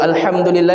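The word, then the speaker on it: الحمد لله: Contoh ya, di dalam surah al-Fatihah Allah Taala katakan alhamdulillahi rabbil alamin. Alham du lillah. Ya. Kemudian sebagian orang dan ini relate ya membacanya dengan apa?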